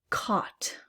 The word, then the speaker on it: caught: Caught. Caught. There, I see the GH, but I don't hear any F sound. It's silent.